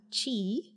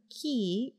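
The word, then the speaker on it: Qi: don't be shy now his name is spelled mr uh chi or ki but um honestly it's just interchangeable whatever works for you i like to call him mr key it is what it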